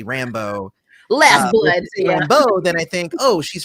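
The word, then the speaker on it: Rambeau: ahead and say that i've always i've always read her name as monica rambo and not how they're pronouncing it in the show which is rambo which is kind of annoying to me it should be rambo not rambo it's where the where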